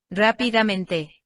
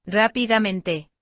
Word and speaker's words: rápidamente: palabra, vamos a escucharla Rápidamente, de nuevo. rápidamente. Como has podido notar, la palabra rápidamente, todas las sílabas las escuchamos perfectamente, rápidamente, y tienen una duración similar.